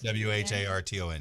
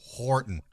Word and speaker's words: Wharton: It is W-H-A-R-T-O-N. Yes, correct. Yes. Down over there by Victoria. Wharton. Yeah, Wharton.